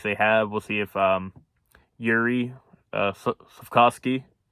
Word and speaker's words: Juraj: We'll see if Yuri Slafkovsky, I always thought it was Juraj. It's like Yuri or something similar to that.